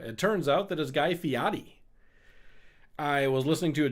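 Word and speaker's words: Guy Fieri: I've been saying Guy Ferrari for the longest time and uh it turns out that is Guy Fiotti.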